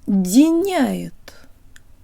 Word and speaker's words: диняет: Диняет, диняет. The syllable before that has a really cool feature.